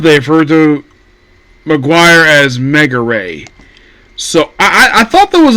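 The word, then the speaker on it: Megure: I see the name translated, it looks like a Maguire. But apparently it's pronounced Mega Ray.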